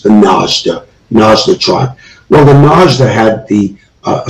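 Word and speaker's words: Najd: a long-standing tribe and it's spelled m-a-d-j but pronounced the nazda nasdaq well the naj that had the uh a certain type of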